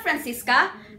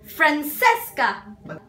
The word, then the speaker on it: Francesca: No, not Francisca. Francesca. But why Francesca? Because in New York, she says that's the way they pronounce her name.